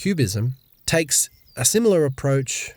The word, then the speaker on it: QBism: A different relational theory, QBism (pronounced Cube-ism), takes a somewhat similar